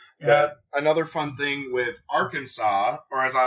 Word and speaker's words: Arkansas: yeah it's coming yeah another fun thing with Arkansas or as I like to call it Arkansas Arkansas it is strictly prohibited to pronounce Arkansas incorrectly that's beautiful though I absolutely